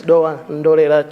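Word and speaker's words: Dowa Ndolera: Honourable Member for Doan Ndolera, is that the correct pronunciation for your constituency? Yes, it's Doan Ndolera, Chair.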